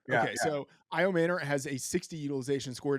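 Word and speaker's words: Ayomanor: Iomanor. Yeah, okay. Yeah. So Iomanor has a 60 utilization score to 62 from Ridley.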